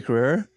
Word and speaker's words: Carrere: Tia Carrere on screen Tia Carrere to your query mm-hmm so what's a